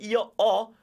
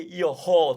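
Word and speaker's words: io ho: often do not say yoho too high okay there is no h don't pronounce it okay grazia mille a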